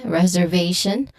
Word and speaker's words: reservation: English because you um sometimes people um put the stress in the second syllable rather than in on the third syllable.